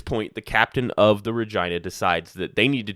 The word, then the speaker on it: Regina: So the Regina left, it's named after Regina, Saskatchewan. So that is the correct way to pronounce it.